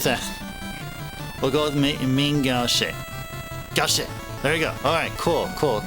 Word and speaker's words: gauche: Gaukshe? Gaukshe. Captain, is that actually legit how you pronounce it?